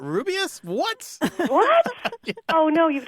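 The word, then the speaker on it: Rubeus: books on tape and Jim Dale reading he says ruas Hagrid and a lot of people are like it's not rubus what what oh no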